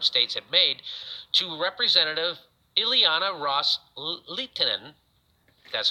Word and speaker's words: Ileana Ros-Lehtinen: Qataris unni's Arab states have made to Representative Ileana ros-lehtinen that's how you say her name quote with